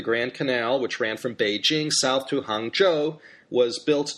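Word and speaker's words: 北京: emperor renamed this city Beijing. Bei, the third tone, means north, and Jing, first tone, means capital.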